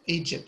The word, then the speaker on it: Egypt: ما فيهاش, there's no D, but in the pronunciation there is a D.